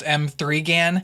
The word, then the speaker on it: M3GAN: Today we're talking about M3GAN, produced by Blumhouse, and that's M3GAN with a 3, by the way, so technically it's pronounced M3GAN.